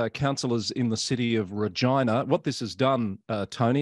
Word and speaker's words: Regina: In this case, councillors in the city of Regina, what this has done, Tony, has confirmed for me the correct way to say the name of that city.